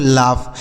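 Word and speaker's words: laugh: Next word है एल ए यू जी एच। इसे पढ़ेंगे दोस्तों लाफ। एल ए यू जी एच लाफ।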